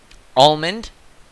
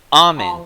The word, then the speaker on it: almond: The L in almond was silent until very recently.